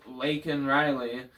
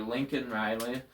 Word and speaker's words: Laken Riley: Biden said her name wrong. He called her Lincoln Riley only after being forced to say something because of Marjorie Taylor Greene.